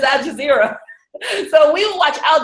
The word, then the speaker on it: Al Jazeera: used to look at Al Jazeera all the time, which gives us I said it right. I know. I used to call it Al Jazeera. But it's Al Jazeera.